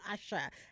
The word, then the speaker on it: Asa: um you know she she spells her name Asa but uh the the slight inflection then changes the pronunciation to Asha and the album is called Asher spelled ASha that came out in 2007.